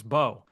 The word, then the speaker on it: Mbow: MBOW is the spelling of the last name, but the M is silent, so it's Marcus Bow.